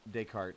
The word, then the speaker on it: Descartes: Descartes, alright. Look, I had the right idea. I just executed it wrong. It's like half those letters aren't relevant to the pronunciation.